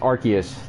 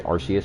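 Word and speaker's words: Arceus: his name is archus people say arus I can't uh I don't know people saying arus it's just they pronounced it both ways in the anime though so I can't get mad at the archus debate F but I always say archus I don't know pronunciation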